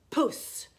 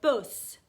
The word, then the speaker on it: puss: Oftast så hör man om någon kommer från ett annat land för att ni säger buss, buss. Alltså b. Det blir inget pust i pussen. Så om ni vill prata som en svensk, tänk på att göra så.